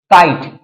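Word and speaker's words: kite: अब सिमलर वर्ड फर बात करते हैं जैसे काइट काइट कल पतंग चील तो इसे क्या बोलेंगे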